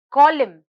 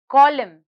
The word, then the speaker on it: column: is silent next word column column column here the letter n is silent our last word is